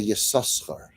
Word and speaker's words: Yissachar: a fascinating thing, how the first time we read it in the Torah, there's a minhag to say Yissaschar. Yissaschar. And then from then on we say Yissachar.